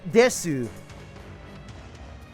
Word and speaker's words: desu: That's just desu. I mean, you you pronounce it the same way that you would a long u in English.